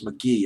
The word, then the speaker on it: McGhee: Stick McGee, I'll pronounce it as McGee.